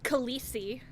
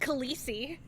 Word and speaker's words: Khaleesi: It's pronounced Khaleesi. It's pronounced Khaleesi.